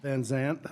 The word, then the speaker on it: Van Zant: located, is that something, how do you? Van Zant? Van Zant, okay, Van Zant, just the way it's spelled there.